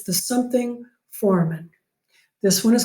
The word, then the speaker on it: foramen: is called the obturator foramen. That reminds me that I should tell you that this word foramen, F-O-R-A-M-A-N, some people pronounce it foramen. I have no problem with that.